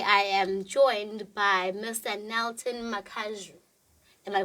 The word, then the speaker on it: Nilton Makazhu: Nilton Makazhu. Am I pronouncing it correctly?